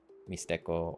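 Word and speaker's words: Mixtec: Um, in uh uh I study this language in Mexico uh called Mishco um or Mishteek. Um the people in that language don't pronounce that way. They say mistco or um and they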